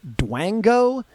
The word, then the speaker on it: Dwango: They called it, and if I'm mispronouncing this Doom fan base, I apologize, but I think it's pronounced Dwango, DWANGO.